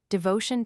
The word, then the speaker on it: devotion: The final syllable is sounded, patience 10:29 is trisyllabic, devotion 10:40 is 4 syllables, and entertainment 10:37 is accented on the 2nd and 4th syllables.